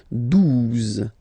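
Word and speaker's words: douze: Okay, 12. 12. O-U, the two together will give you the sound OO, okay? And then Z, 12, 12, all right?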